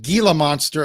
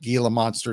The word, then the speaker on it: Gila monster: How many people out in Arizona pronounce it Gila Monster and not Gila Monster?